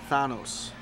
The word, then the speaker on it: Thanos: Fighters bam my boy Thanos if you see the Avengers movie I don't want to spoil it for you it's actually pronounced Thanos why you have to